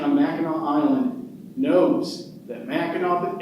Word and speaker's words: Mackinac: Now, anybody who grew up in Michigan or took a family vacation on Mackinac Island knows that Mackinac ends with a silent C, not a W.